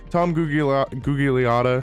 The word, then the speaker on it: Gugliotta: Tom Gugliotta, I think is how you pronounce his name.